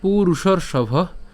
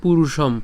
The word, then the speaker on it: পুরুষং: হবে কিন্তু এই যে লাইনের মাঝখানে মাঝখানে যে অনুস্বার আছে এখানে অনুস্বার আছে এদের উচ্চারণ কিন্তু অনুস্বারই হবে অর্থাৎ ইয়ং হ্যাঁ পুরুষং নট পুরুষম ইয়ং হবে না ঠিক